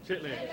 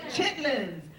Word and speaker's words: chitterlings: Fried chicken and cornbread dressing, collard greens mixed with smoked ham hocks, cha-cha pickles, chicken and dumplings, pronounced dumplings, chitterlings. Please, the word is what? Chitlins. Chitlins.